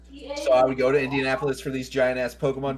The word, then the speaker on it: Indianapolis: Indianapolis is Indianapolis.